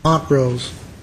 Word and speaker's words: Montrose: Is it Montrose or Montrose? Montrose. Mr.